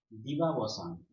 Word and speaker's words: দিবাবসান: ধরে নাও দিবাবসান। দিবাবসান, এটি একটি শব্দ। এই শব্দটিকে এবার আমরা উচ্চারণ করব, আর উচ্চারণ করে আমরা দল নির্ণয় করব। কিভাবে উচ্চারণ করছি? প্রথমে উচ্চারণ করছি দি বা ব সান।